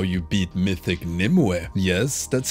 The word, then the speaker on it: Nymue: dream and this is how you beat Mythic Nim yes that's how you say it now I'll